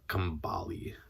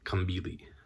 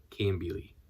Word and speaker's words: Kambili: This is basically the life of Kambali. Nope, not Kambali. It's because it's Kambili. Kambili. Because the pronunciation is on the first syllable. Kambili.